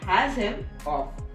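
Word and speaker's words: Asimov: born on Russia 1920 he pronounced a last name which was has him off leaves outs Edge came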